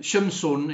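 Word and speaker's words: שמשון: Um and uh Samson's name Shimson in Hebrew is spelled shin mem shin vafnun sufit.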